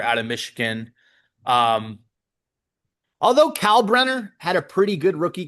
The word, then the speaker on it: Kalkbrenner: Uh wow, it's a crazy Kalk Kalkbrenner, I guess, is how you say his name. K A L K Brenner.